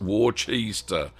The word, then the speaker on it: Worcester: Um Dominic says putting the cheese back in war chest warster. Nice like that. Worcester that's how you pronounce it.